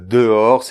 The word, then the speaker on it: dehors: So first we will separate … So then be careful, however, with this vowel, it's very important in French. Round your lips, it will help; , and after , like "de l’or" (gold). The French - R is made here; here, it's at the end, very light [ʀ] a little like a gargle, but very light. Shall we try? , .